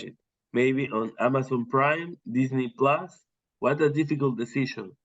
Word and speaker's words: Disney: Yes, it's Disney, because we have the word Sydney. ¿Te acuerdas la word Sydney? Disney, Sydney.